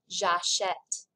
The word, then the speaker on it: j'achète: So this verb is pronounced j'achète, tu achètes. There's the eh sound right there with the accent grave.